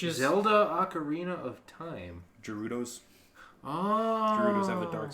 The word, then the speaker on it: Gerudo: Gerudos.